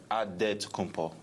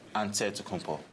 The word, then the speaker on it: Antetokounmpo: The Nigerian way, you gotta say it with a D, so it's Antetokounmpo. But in the Greek way, you say it with the NT, like Antetokounmpo.